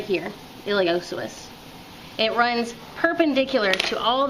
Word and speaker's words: iliopsoas: Reading it you might want to say iliopsoas, but the p is silent. That is this deep muscle right here, iliopsoas.